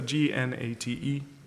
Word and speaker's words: Gnate: It's Nate, but with a silent G. Gnate.